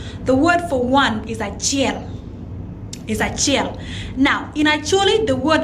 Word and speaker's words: achiel: Now, when you look at all the three ways of saying Achiel, their pronunciation are all the same, but they just have different spelling.